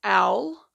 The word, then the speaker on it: awl: Oh, and you will need an L, which is spelled AWL, which I will show you when we get to that.